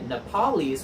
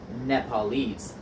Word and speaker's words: Nepalese: Sometimes the accent moves in these adjectives, and we just have to know the difference. So we wouldn't say Nepalese, we would say Nepalese. The accent moves back one syllable.